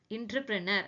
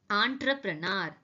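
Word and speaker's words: entrepreneur: பட் திட் is typically pronounced as scheduled. And next word is, இதை நீங்க பார்த்தோன்னே என்ன சொல்லுவீங்க? இன்டர்பிரனர் அப்படின்னு சொல்லுவீங்க.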